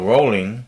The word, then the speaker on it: Rowling: So, Rowling, and yes, that's how you pronounce Joanne Rowling's name.